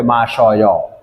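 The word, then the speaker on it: 마셔요: উচ্চারণ দেখেন মাসি অয় একই, কিন্তু আমরা আলটিমেটলি এটাকে উচ্চারণ করবে মাসয়।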